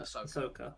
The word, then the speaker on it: Ahsoka: Well, hazard for D4G and on the side of Emmeris, I believe it's Asa or Asoka. Ahsoka, how do you pronounce it? Ahsoka, there we go.